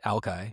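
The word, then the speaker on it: Alki: And some wise guy appended this Shinook jargon word, Ali, which is now pronounced Alkai.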